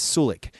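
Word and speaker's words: Suljic: is sunny little chick soul chick okay I've heard a bunch of different pronunciations of it I've even heard not pronouncing the J as Sulak but he was in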